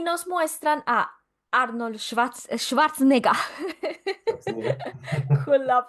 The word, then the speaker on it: Schwarzenegger: Y nos muestran a Arnold Schwarzenegger Schwarzenegger. con la pronunciación, con la pronunciación alemana del apellido de Schwarzenegger, siendo un robot, pero nosotros pues, en ese momento no sabemos.